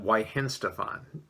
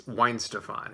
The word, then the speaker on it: Weihenstephaner: for this beer in September, I believe I pronounced it Weihenstephaner. No, it's Weihenstephaner.